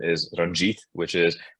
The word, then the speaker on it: Ranjit: name or my official name Indian name is Ranjit which is spelled r-a-n-j-i-t but my entire life uh people